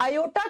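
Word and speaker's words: aorta: और हम इसको जब प्रोनाउंस करते हैं तो बच्चा आर साइलेंट हो जाता है। इसको आयोटा या ओटा बोलते हैं।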